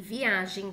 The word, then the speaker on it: viajem: essas duas frases e as palavras viagem com g e viajem com j tem a mesma pronúncia mas pertence a classes